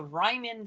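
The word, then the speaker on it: Riemann: when we take the limit is called the Ryman sum which I mentioned in our last lecture on 51 actually pronounce that one correctly so definition two says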